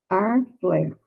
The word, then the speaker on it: Harfleur: Você pronuncia como a gente pronuncia no português. Harfleur.